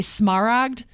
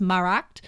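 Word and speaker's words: Smaragd: that is smell and most of us say smart because we don't know any better Smar AGD but it's actually pronounced marked and that's the lizard it hangs out in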